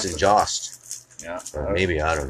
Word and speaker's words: Jost: Now, see, in Nova Scotia, we pronounce that Yost because we've got Yost wineries. Yeah, exactly. Yeah, that's how I wonder if would it's pronounce Tyson it. Jost.